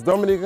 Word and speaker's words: Dominica: Oh, we call it Dominican. It is spelled D-O-M-I-N-I-C-A.